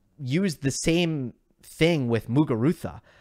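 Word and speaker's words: Muguruza: the same thing with mugarutha that's a z and I do hear sometimes mugurusa but in general the people who are pronouncing her name correctly are saying muga Rutha and if you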